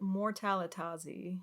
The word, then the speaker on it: Mortalitasi: Is Mortalitasi? Is that how you say it? Mortalitazi.